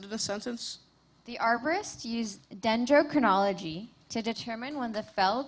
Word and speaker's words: dendrochronology: The arborist used dendrochroninology to determine when the fell tree had been planted. And it's pronounced dendrochronology.